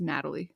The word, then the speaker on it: Natalie: She was born in Australia, and her parents are Lynn and I almost said Natalia. It's not Natalia. It's Natalie. Lynn and Natalie.